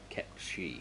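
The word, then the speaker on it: Cait Sith: W Square we encounter Kate Sith or in what I'm going to do kep shei because that is how he he is pronounced he's a fortune teller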